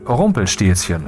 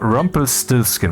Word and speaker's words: Rumpelstilzchen: And therefore, that would be pronounced Rumpelstilzchen and not Rumpelstiltskin.